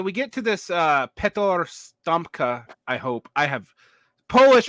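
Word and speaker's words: Sztompka: Stomka.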